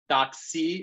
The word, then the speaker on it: DocC: I should note, DocC is how it's pronounced. Not to be confused with the word doxy that ends in XY, which means lover or mistress.